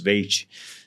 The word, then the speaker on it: Veit: A pronúncia é Veit, não é Veit? Porque Alemão é Veit ou Fight.